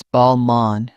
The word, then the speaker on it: Balmain: I noticed people say Balmain with a strong N. In French, it's Balmain with the nasal ending.